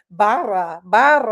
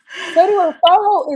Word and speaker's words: Barra: I'd be I'd hear people say baja. And I'm like, baja? Where's Baja? Because it's spelled B A R R A. So, I'm pronouncing it like Spanish. Barra bar.